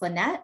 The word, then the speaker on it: Linet: My name is pronounced Linet.